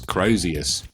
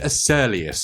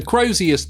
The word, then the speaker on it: Crozius: It took me many years to understand how to pronounce Crozius. As a kid I couldn't say it. I always called it Acerlius or something.